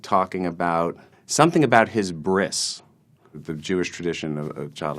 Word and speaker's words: bris: a bris was and I decided to pronounce it Bri Bri s as Bri so I did the whole monologue about my bris or like talking about this brands like a drama and then at the end of guy said thank you very much and it's pronounced bris I did not get